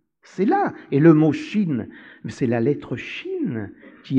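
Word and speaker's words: שׁ: est pointée à droite, cette lettre se prononce Chine, c'est la Chine, c'est l'Orient, et quand elle est pointée à gauche, elle se prononce Sin, Sinaï.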